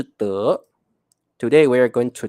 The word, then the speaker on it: 得: 各位同学特别记得，你一定要念成得，不要念成的，所以你可以说得到就是 get something or obtain something。